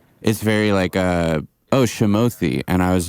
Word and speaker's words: Shamothy: You know, so I was like, no, it's like Timothy, but a fake name, so it's a Shamothy. And that was like how so like whenever I'm like telling people, they're like, oh, how do you say this? I'm like Timothy, but Sham, you know?